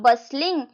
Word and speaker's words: bustling: बस्लिंग शब्द रो अर्थ पिले कोन बस्लिंग। एटा देखो पिले बस्लिंग शब्द रो पिले टी टा उच्चारण होबनी एटा टी टा उहे रहिबो उच्चारण होबो बस्लिंग माने चलचंचल।